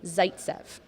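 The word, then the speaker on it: Zaitsev: definitely his first name Zaytsev close close it's actually Nikita you got that right Zaytsev what do you think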